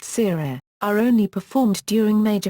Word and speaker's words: tirere: These stick dances or 'tirere' (pronounced seerere) are only performed during major festivals.